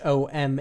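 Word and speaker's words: homme: or leasin for example in leum spelled h o m a r d meaning the lobster the article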